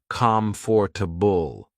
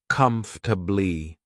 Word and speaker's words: comfortable: I thought it was comfortable, but after listening closely, I heard people say it like comfortably.